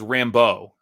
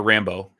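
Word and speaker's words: Rambeau: i thought it was rambo right like there's a there's an emphasis on the second syllable so it's not like john rambo it's rambo like monica rambo because that's that's that's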